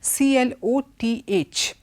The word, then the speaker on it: cloth: pronunciation of two words CL oth is always pronounced clot and the veeram Toni